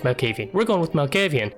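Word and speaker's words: Malkavian: strikes lastly is the Mel kayvyun I believe that's how you say it not my kayvyun I think it's Mel caffee we're going with Mel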